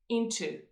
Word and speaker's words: into: say it separately then you have the long o sound at the end into however in the flow